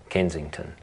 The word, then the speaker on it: Kensington: Which suburb is this pattern? Kensington. Very good. Look, the second syllable is the strong one.